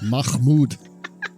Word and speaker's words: Mahmood: It is Mahmud or Mammud. I don't know. Anyway, it's Mahmood. Come on, get it right.